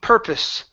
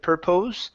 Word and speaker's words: purpose: last one here is purpose okay the 00 the POS e is actually an eye s sound so instead of pur pose with an O it's a piss purpose but purpose one more time purpose